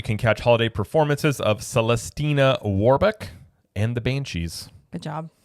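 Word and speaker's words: Celestina Warbeck: Dion alley you can catch holiday performances of celestina waru and the Banshees good job good job pronouncing that you're I you know what I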